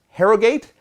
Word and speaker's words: Harrogate: This takes place in, I believe it's pronounced Harrogate in the UK.